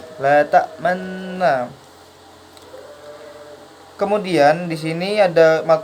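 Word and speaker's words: لا تأمنّا: Nah, ta'manna di sini adalah gharib ismam, di mana cara bacanya harus mencucu. La ta'manna.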